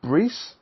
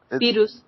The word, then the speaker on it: Beerus: Battle of the Gods had a dub clip with Vegeta versus how pronounce this guy name? Brees? Beerus.